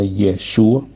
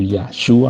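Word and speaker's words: ישוע: nombre que él tiene su nombre hebreo es un nombre que más o menos se pronuncia yeshua o yashua algunos como lo pronuncian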